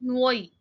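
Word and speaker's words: Nwoye: Next है इनके सन, इनके सबसे बड़े बेटे नुओई। वैसे तो एन से स्टार्ट होता है, but most of the times इसका प्रोनाउंसिएशन डिफरेंट रहता है।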